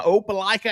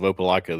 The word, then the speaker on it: Opelika: Jeffrey, I heard a new pronunciation of Opelika the other day from a Florida fan that I was talking to. He said Opelika.